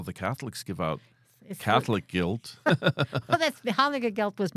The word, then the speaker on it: gelt: guilt how do you how do you spell that g e l t okay I thought you said gu i l t like I'm guilty no guilt hanuk guilt